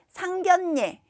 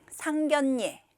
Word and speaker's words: 상견례: 있는 말들이에요 발음은 이렇게 합니다 맛선 맛선 또 상견 예 상견 예 함 함 이렇게 발음해요 어 맞선이 것은음 결혼을 하기 위해서 모르는